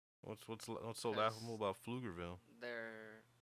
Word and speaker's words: Pflugerville: what's so laughable about flugerville there town is spelled with a silent p oh so it's lugerville